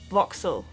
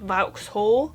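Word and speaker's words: Vauxhall: south of London and this is pronounced voxel not vhole just voxel so I hope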